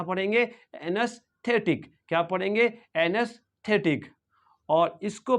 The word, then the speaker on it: anaesthetic: क्या हो जाएगा एनस और ये जो टी एई है इसको भी सॉफ्ट टी एच पढ़ेंगे और एनेस्थेटिक क्या पढ़ेंगे और ये सी है इसको के पढ़ेंगे और आई का साउंड तो आई शॉर्ट आई रहेगा यानी कि टिक रहेगा टिक टी आई के टिक तो इसको पढ़ेंगे एनेस्थेटिक क्या पढ़ेंगे एनेस्थेटिक क्या पढ़ेंगे